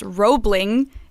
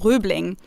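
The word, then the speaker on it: Roebling: name well he's pronoun the bridge was pronounced robling in english robling bridge but of course it was oe so in german it would be pronounced rubling the same goes for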